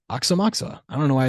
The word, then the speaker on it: Aoxomoxoa: strange trip documentary where Mickey Hart pronounces it and he's like oxamoxa I don't know why